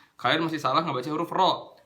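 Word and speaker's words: ر: Kalau misalnya kalian masih baca rohim, kalian masih salah ngebaca huruf ro. Huruf ro itu bacanya gini ya. Ro. Suaranya ditebalkan. Jadi suaranya itu naik ke atas langit-langit, bukan ke depan.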